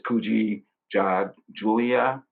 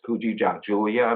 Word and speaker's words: Kujichagulia: the second principle um it is kuji julia uh it's kuji julia that's the pronunciation of it this is second principle